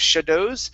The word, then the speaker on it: shadows: word here Instead of shadows it's sha Shadows So stress at the very beginning Shadows Shadows Shadows There